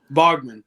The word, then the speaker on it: Baughman: whatever you say I'll answer to it but Bogman is is what I say that doesn't mean